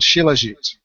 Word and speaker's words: Shilajit: And the fourth picture is a reminder that we also have the original thing called Shilajit. That's spelled Shilajit, and it's an Indian product, famous from its Ayurvedic days.